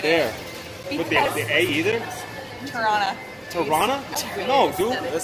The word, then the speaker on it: Toronto: Toronto. Toronto? Oh, Toronto. Toronto. Toronto. Toronto. Toronto. There's a second T. I know. No, but you don't announce. Why is it there? With the A either? Toronto.